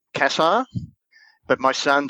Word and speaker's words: Cassar: son says kasar so mostly kassar is what the way it's announced but us australians sort of put a slang on it and i'll answer them anything cassar's probably the way i always pronounce it yeah we met your